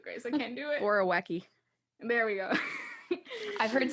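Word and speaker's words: Borowiecki: And I'm gonna try to pronounce this correctly. You guys can help me with this one. Borwa. I can do it. Yeah, you do it, Grace. I can't do it. Borowecki.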